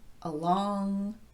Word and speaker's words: along: And how about those words like around, across, among, along, about, and so forth? It's clearly the second syllable that's getting the emphasis here, but these words typically occur as part of a prepositional phrase.